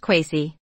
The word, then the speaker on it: kosi: Kaiser and Caesar King in some West African languages kosi is pronounced quasi in modern setswana we